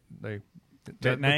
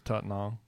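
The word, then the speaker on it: Tettnang: tetenal a lot of people would call it they detonate that's yeah but the way they pronounce is taught now and that's in the southern it's close to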